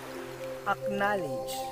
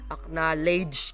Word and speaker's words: acknowledge: Ginagawa natin acknowledge. Ginagawa natin siyang parang ledge yung dulo niya. But it's not actually like that. It should be acknowledge.